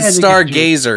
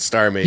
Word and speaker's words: Star Mazer: He said Stargazer. I said Star Mazer.